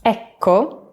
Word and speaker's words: Ecco: Double letters are long in Italian, so be sure to drag out the cuh sound. There's almost a little pause between them. Ecco. Ecco.